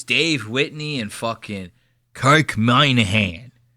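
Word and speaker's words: Minihane: Dave, Whitney, and fucking Kirk Minahan. His name is spelled Minnie Hane. And they pronounce it the fucking crazy. They go, my name is Kirk Moynihan.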